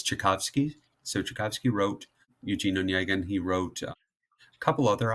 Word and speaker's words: Eugene Onegin: Eugene. Eugene Onegin. It's not how I would have pronounced it at all, so thanks for the assist.